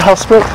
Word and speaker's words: Hoedspruit: Is it Hoedspruit? Hoedspruit. Hoedspruit. That's how you pronounce it.